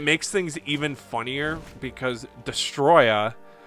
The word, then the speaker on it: Destoroyah: even funnier because destoroyah whose name looks like you have to pronounce it with an incredibly thick Japanese accent just cuz there's a bunch of extra a's in there because his name's destoroyah but it's spelled like DISA - Roya he's just this giant